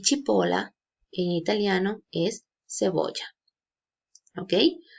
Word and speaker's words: cipolla: es si en español que en italia no se pronuncia chi entonces esta palabra se escucharía tipo la sí y chipola en italiano es cebolla